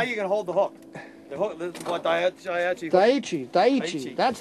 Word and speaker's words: Daiichi: Daiichi. That's how you pronounce it. Daiichi.